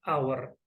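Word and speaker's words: hour: Sementara kata benda yang kedua, huruf H-nya tidak kita lafalkan.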